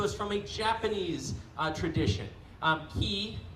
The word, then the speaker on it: ki: Ki being the Japanese pronunciation of Chi, so Rei being heaven, so it's the heavenly Chi.